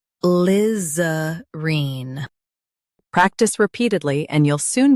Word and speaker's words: alizarine: Stress Liz and keep arene soft. Liz. Reen. ALIZARINE.